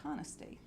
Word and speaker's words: Canasta: here it was the town of Canasta and today we pronounce that kana state it is said to